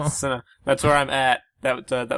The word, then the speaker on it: Sinnoh: The region was Sinnoh? like that. Sinnoh, yeah. Sinnoh, did yeah. you just say That's the region. snow? Snow. No, Sinnoh.